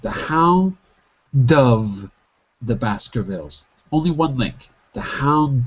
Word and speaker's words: Baskervilles: The pronunciation of the last word is Baskervilles. Baskervilles.